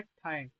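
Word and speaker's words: ठ्य: रहा है वो है ठय। ठ य हां ठ य ये ना कोई पढ़े ठ य यहां से उच्चारण होगा। ठ य ठय। क्यों? अकार नहीं है वहां पे। ठय हल्का सा।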